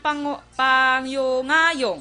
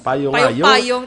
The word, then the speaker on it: Payungayong: Pangyungayong. Payungayong. Kamu pala ni Action Eden, hindi ka mo mayo ka pronounce sa apelyido. Payungayong. Payungayong. From the word payong, ngayong kaya.